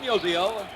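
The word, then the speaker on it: Musial: the last half of the 12th Innings fan Museo finally someone who can pronounce his name right notal home plight as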